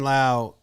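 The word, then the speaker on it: Lowe: Then I'm just who's I'd rather at second base get consistency and balance and Brandon Laauo uh be low is loud. That's how I remember how to say his name.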